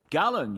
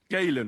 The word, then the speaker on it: Galen: Gallon, you say? Yes. Galen and other scholars share similar He corrected the pronunciation.